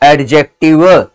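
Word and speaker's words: adjective: लोग कैसे याद करेंगे एडजेक्टिव में दी साइलेंट होता है बेटा साउंडेड नहीं होता है जो दी होता है वो क्या होता है साइलेंट होता है साउंड नहीं होता ध्यान में रखना और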